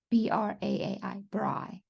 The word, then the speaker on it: braai: invite friends over and have what we call a braai. but you call a barbecue. Have a How do you braai. right? B-R-A. B How do you R spell it? A A I. BRAAI. Braai. Okay. And that And means we barbecue?